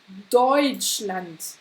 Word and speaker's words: Deutschland: U und EU spricht man auf Deutsch Oi. Oi. Ja, kannst du das auch sprechen? Oi. Oi. Wie hier in Deutschland. Deutschland. Und nicht Deutschland. Ja, d'accord? Deutschland, nein, das kannst du vergessen.